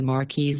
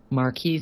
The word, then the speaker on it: Marquis: Also, if you have watched this with subtitles, you'll notice I spelled Marquis instead of M-A or Q-U-I-S to pronounce it correctly.